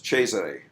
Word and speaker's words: Cesare: Like in Latin, in Italian, it becomes Cesare, right? Cesare Borgia. So it's a ch sound.